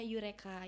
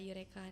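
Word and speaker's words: Eureka: juga di situ Itu ada namanya yureka yureka Nah itu pengejaannya e u r e k a.lpg nah instagram-nya boleh dilihat-lihat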